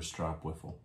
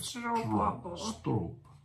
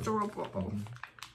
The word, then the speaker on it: stroopwafel: And it said stroop, like a rope. I remember. Stroopwafel.